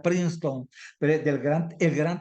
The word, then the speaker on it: Princeton: gran teólogo de de princenton le digo yo Yo sé que se pronuncia princeton pero del Gran el